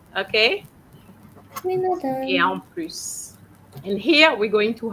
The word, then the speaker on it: plus: Now, I have noticed that you pronounce the S of plus, of plus. All right. When uh, you are comparing, you don't use the S. Okay? You would say il est plus grand que moi.